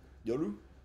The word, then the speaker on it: Yoru: I think if your Japanese pronunciation would be Yoru. Yoru. Because all syllables have the same stress as each other. Whereas American, we stress one syllable more than the rest for some reason. So it'd be Yoru.